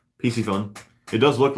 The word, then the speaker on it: Piscifun: Got my Piscifun backpack today. That's very cool. That's an awesome bag. Here, I said it wrong. It's PC Fun. PC Fun.